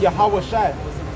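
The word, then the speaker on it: Yeshua: Because the word J is not in Hebrew. So when you say how do you say Jesus? In it's Joshua, Savior, he Savior, he Deliverer, Joshua. Now how do you say Joshua in ancient Hebrew? Yahweh Shai. So that's really how to say Jesus in Hebrew.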